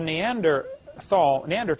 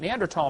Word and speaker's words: Neanderthal: By the way, in case you don't know, the Neanderthal, the H is silent, Neanderthal man is named after